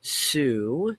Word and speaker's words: TSU: rolled out TSU or Sue as it's pronounced like in the word tsunami tsami Su Sue version